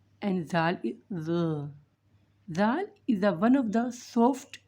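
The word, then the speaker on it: ذال: So, Zal is also pronounced from the tip of the tongue, but the tip of the tongue touch the lower side of the upper 2 incisors. Zal. And Zal is one of the soft letters.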